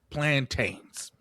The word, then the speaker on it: plantains: And it's to pronounce plantains. Mm-hmm. Because how do you pronounce mountain? You pronounce it mountain.